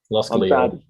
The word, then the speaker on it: Lille: Lille. Yeah. You're the pronunciation man.